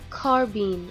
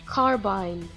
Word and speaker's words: carbine: spelling and pronunciation rules in the case of carbine or carbine both pronunciations are correct carbine or carbine some people just refuse